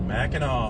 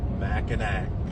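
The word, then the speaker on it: Mackinac: Going across the, uh, mighty Meno Bridge. And it is pronounced Meno, folks, not Minak.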